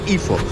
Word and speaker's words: Ipoh: मैं हूँ अभी पेनांग में और मैं जाने वाला हूँ अभी आईफो इफो इफो द लोकल जो प्रोनाउंसिएशन है इफो।